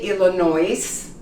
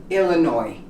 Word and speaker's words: Illinois: The state. of Illinois. You don't say Illinois, you say Illinois.